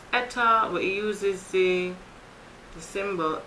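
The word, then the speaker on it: eta: into the pass over each other effortlessly efficiency pronounced Etta who uses the the symbol at all right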